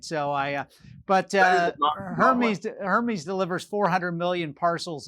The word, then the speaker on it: Hermes: uk company's name is hermes yes spelled the same pronounced differently yes but my french pronunciation is never that great so i uh but uh hermes hermes delivers 400 million